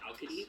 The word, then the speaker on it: Alcides: It's a hard C in Greek, so it'd be Alcadis. Alcadis, something like that.